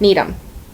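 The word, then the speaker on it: Needham: when you were little you would say need him and that's need him here's one this one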